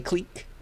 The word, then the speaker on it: clique: from french people but usually in english we pronounce that word as click right but we say clique in graph theory and this is also sometimes